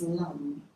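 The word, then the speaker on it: LAM: has a sound is the sound for this chakra is lung and it's spelled l-a-m but the a is slightly softer it's almost like a lung but it's a long lung and um the mantra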